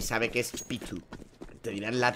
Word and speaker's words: Pitu: y sabe que es Pitu. Te dirán la T, esa inglesa, pero lo hacen bien. El apellido no lo dicen y ya está. No, no dicen Paitu, usan la pronunciación española, dicen Pitu.